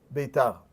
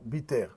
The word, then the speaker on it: Beitar: Et après que les Romains ont conquis à nouveau, ils se sont retranchés dans la ville de Beitar, que certains prononceront Biter.